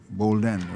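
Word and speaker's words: Bolden: So Bowden is his name, or am I right with the pronunciation? B-O-D-E-N, Bowden. B-O-L-D-E-N. Bowden, right.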